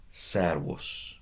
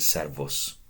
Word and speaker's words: servus: Remember what I said about the V? That was avis, servus. It's not the end of the world if you pronounced it servus, okay?